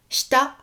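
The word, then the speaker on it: した: Donc vous vous souvenez, en termes de prononciation japonaise, je vous dis souvent le i de certaines syllabes, et notamment dans shinai, shita, je ne dis pas shita, je dis shita. Le i est quasiment muet.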